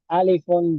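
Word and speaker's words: ألف: So we don't want to pronounce that un sound, so we drop it. We say alif.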